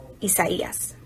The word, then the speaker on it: Isaias: name in the atlantic hurricane season will be isaias yup yes got it no thanks to unusually